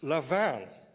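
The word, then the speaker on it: lavaan: should pronounce properly today it's not what Warren or whatever the Texan guys make of it it's levan can we do that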